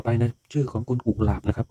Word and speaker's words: กุหลาบ: นะ ครับ ต่อ ไป นะ ชื่อ ของ คณ กุหลาบ นะ ครับ ก ไก่ นะ ครับ หอ เหบ